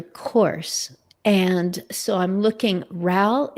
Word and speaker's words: Ral: Ral, you just mentioned your course. And so I'm looking, Ral is RAL, like pal with an R.